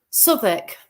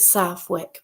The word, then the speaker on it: Southwick: actually went to um place in Northampton Southwick sck is how you have to pronounce it I've been told I call it Southwick but there you go I got it wrong